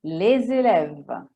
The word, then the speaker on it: les élèves: Oppure i miei zii, mes oncles, oppure gli alunni, les élèves, ok?